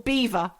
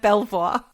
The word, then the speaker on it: Belvoir: Or Beaver instead of Belvoir. Oh, what? Beaver instead of Belvoir. It's not Belvoir, it's Beaver.